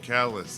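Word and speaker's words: Kallus: that you guys have it's k-a-l-l-u-s yeah but you hear what it sounds like right said like it's spelled um I'm just saying Graham and callus that's that's happenstance or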